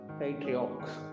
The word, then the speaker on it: patriarch: அதோட உச்சரிப்பு patriarch என்று படிக்க வேண்டும்.